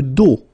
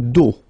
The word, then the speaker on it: dos: Le dos, le dos. Final S not pronounced, okay? Le dos.